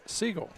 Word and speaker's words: Szczygiel: I understand that, but I want all the folks to know this is how it's spelled. SZCZYGIEL. They may say Siegel, and hey, that's how you pronounce your name. Wonderful. That's not Siegel.